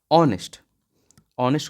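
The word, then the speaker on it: honest: के आगे का प्रयोग ऑनेस्ट हो कैसे पद जाता है यहां पे और जिस भी शब्द में ह साइलेंट होगा उसका पहले होगा यानी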